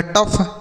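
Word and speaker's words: tough: टी से ट ओ यू जी एच को अफ तो मिलाकर बनेगा टफ।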